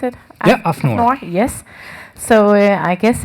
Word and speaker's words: AFNOR: Welcome, you're head of standardization in AFNOR, how you pronounce it? Yeah, AFNOR.